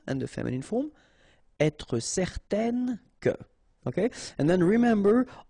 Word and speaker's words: certaine: will change the thing, and then you will pronounce it n. Okay, so the masculine form, certain, the feminine form, certaine.